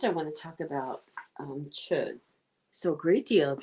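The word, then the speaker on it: Chöd: It's actually spelled CHO and two little dots over the O, or it's spelled CHOD. The two dots make it chud, a light D at the end of it.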